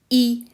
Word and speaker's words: y: that pronoun before um so it's y obviously but it's pronounced e so the pronoun e